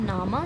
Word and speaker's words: PNAMA: I have visited PNAMA, जिसका P silent रहता है, नामा सर्कस.